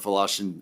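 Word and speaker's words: Wlaschin: members of the committee my name is fashin I'm the deputy secretary of state for elections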